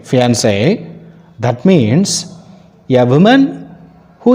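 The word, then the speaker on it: fiancée: get marry a woman whereas if you use double e at the end of this word the pronunciation is same fiancee that means a woman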